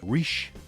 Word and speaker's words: Ritche: realized that it's it's there's no ey in there so I believe it's pronounced Rich you may hear uh Rish you know there's probably